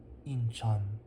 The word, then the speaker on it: Incheon: But the city that now contains the airport was Incheon, Incheon, but it now has Cheon as the final syllable for Incheon.